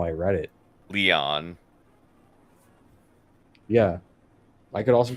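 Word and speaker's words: Lyon: oh okay number one it's actually not pronounced if anything would be Leon Lounge oh my gosh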